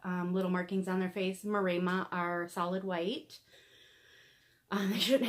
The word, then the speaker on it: Maremma: They are, for those of you who don't know, they are an Italian sheepdog, and the breed is called Maremma. Sometimes pronounced Maremma, but we call them Maremma, and they're just adorable.